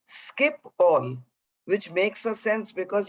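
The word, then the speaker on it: Schiphol: o l airport and i of course thought it was she fall but it's actually skip all which makes a sense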